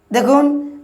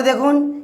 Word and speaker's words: the: টি এইচই থাকলে উচ্চারণ করব আমরা কি দি উচ্চারণ করব যেমন বলছে টি এ দেখুন তারপর দেখুন এস এন সান আছে সান আছে অর্থাৎ প্রথমে